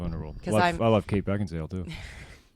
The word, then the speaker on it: Beckinsale: And it's Beckinsale. Just in case you're listening, Kate, I know how to say your name. There's controversy over how to say her name. Oh, she wrote something on Twitter before that said everybody thinks her name's Kate Beckinsdale, Oh, but it's not.